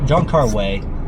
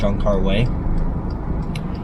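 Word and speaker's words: Wong Kar-wai: John car y or John car way I say why but that's just how that's how it reads in English but I've heard uh Japanese people say his name and his Jun car way and so it's like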